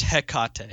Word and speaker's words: Hecate: hold on don't you do it pronounced it's pronounced heck cotton oh is it really yes it's it's a